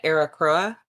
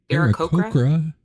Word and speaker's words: Aarakocra: I'm probably gonna butcher this, but an Aracroa. Anybody else know how to pronounce? Aarakocra monk.